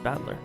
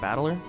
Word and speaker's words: Battler: Problem is my own name that is made up of the characters for fight and person, and it's pronounced battler or battler.